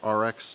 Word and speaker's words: AREX: Glocks, the SIG, the AREX, or RX, depending on how you say it. I've heard them say it at SHOT Shows RX, so maybe I've been mispronouncing it.